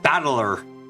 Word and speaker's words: Battler: and it's pronounced battler it uses none of the pr readings of the Parts it's made out of there's probably some Moy